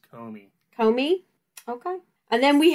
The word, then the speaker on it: Comey: a investigation into James Cromney, opening the investigation into Hillary Clinton about the email servers. I believe it's pronounced James Comey.